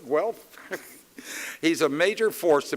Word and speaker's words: Guelph: Notice I pronounced it properly, Guelph.